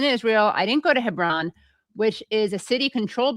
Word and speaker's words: Hebron: Yeah, Hebron.